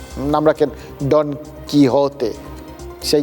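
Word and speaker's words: Don Quixote: ওই ছোটবেলায় দেখতাম সবাই একদম পুরো পরিষ্কার বঙ্গিয়ে উচ্চারণে ডন কুইকজোট অব্দি বলে ফেলতো অনেকে আর কি আসল উচ্চারণটা তো পরে জেনেছি ওই ডন কি হতে স্প্যানিশ উচ্চারণ তাকে তাকে এই ভদ্রলোককে আপনারা নিধ্রাব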